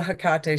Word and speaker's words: Hecate: But that's the Hecate I know.